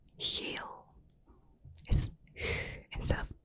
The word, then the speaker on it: geel: harsh, like with the language German, the G is like very harsh, whereas in Dutch it's soft. So yellow is geel, is instead of G. German geel. You see, it's very different. So geel, geel.